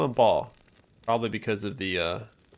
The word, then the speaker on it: Baal: I know it's pronounced Bale, but I call him Baal.